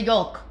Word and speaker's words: yolk: But I think you're overpronouncing the L. Yolk. No, but I just want to clarify the L is not silent in that word.